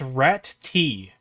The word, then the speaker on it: Ratty: you uh for $2 pronounced rat te rat te okay sorry for pronouncing